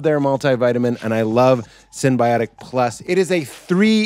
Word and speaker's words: synbiotic: have them for the camera this is ritual synthiotic i didn't want to say it wrong ritual synbiotic plus this is my probiotic that i take